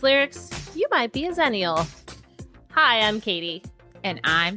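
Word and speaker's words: Xennial: to admit Danny before I asked Google to pronounce that for me which is a totally zenial thing to do by the way I always said aenial but and hopefully some of the listeners also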